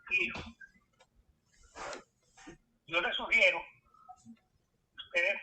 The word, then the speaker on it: Peirce: Y eso lo hizo un filósofo que se llama, el nombre escrito sería Pierre, P-I-E-R-C-E, Pierre Peirce, ¿verdad? Sería la pronunciación correcta, no la pronunciación española, Peirce.